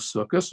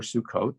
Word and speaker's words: Sukkot: it also is the holiday of circus or sukkot some people like to pronounce it and um sukkot is